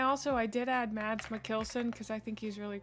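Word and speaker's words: Mikkelsen: Mads Mckelson. That's how I've always heard it. I thought Mikkelson was the American way to pronounce it and Mckelson was correct, but maybe I'm wrong.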